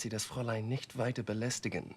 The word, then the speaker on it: belästigen: Belästigen, to bother or pester, and other words ending in gen in German sound more like a nasally hummed n, like But he actually pronounces it as belästigen. This sounds like a foreigner learning from a textbook.